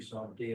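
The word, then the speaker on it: Saumty: We're all the same bunch, but Grandma Lucy Somty and all them, they said there's no P in there, Okay. it's T-Y.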